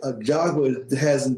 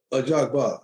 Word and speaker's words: Ajagba: Well, I've said it's a Ajagba. Ajagba. That's how I pronounce it.